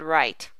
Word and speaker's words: right: town town the n and right is the same way the igh is a long i so there's not any subvocal in the word right but there is one